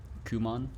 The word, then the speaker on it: Kumon: Kumon? Not pronounced come on.